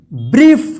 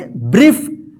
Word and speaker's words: brief: तो यहां पे देखिए BRIEF, देखिए यहां पे IE एक साथ है ना, यहां पे EI है और यहां पे IE एक साथ है, तो इसका उच्चारण क्या होगा? ई होगा, ई, ठीक है ना। जैसे यहां पे देखिए EI या IE रहेगा तो ई उच्चारण होगा। तो इसको क्या पढ़ेंगे? ब्रीफ, क्या पढ़ेंगे?